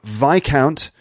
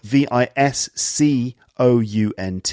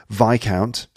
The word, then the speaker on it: Viscount: EA RL earl and after that you have vai count which is actually spelt vis c o u NT it looks like Viscount but it's actually vai count and then lastly we have baron okay there's